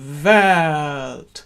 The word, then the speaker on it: Welt: sing it, Welt, Welt, you can get the note on the voiced V. Welt. So just sing the chord for me on V. Ready? That's it. And now just the same thing, but Welt. So the E comes on the downbeat and the V is just before.